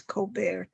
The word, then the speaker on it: Colbert: So she changed to the name Colbert, and she would ask people to pronounce it as Colbert, so that she, as a movie star, would have the appearance that she was from France, which is very exotic